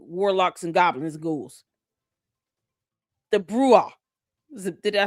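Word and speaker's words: bruja: You know, her and the other witches and warlocks and goblins, ghouls, the bruha. Is it Did I say it right? Bruha.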